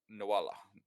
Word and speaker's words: Naola: Nawala. That's Like right. a koala. Rhymes with koala.